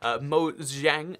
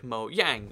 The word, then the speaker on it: Mojang: And this is interesting because I actually say Mojang because that's how, in Swedish and a lot of European language actually, the J is a Y sound, like Mojang, or, you know, the